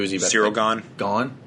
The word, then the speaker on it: Gane: Gane? Is that how you say it? Yeah.